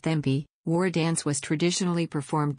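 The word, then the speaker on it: Cibi: The Sibi, pronounced Thembi, War Dance was traditionally performed by the Fiji rugby team before each match.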